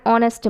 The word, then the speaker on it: honest: Next, an is used before words beginning with a silent H. An is used before words beginning with a silent H. For example, an or, an honest man, an honor, an hair.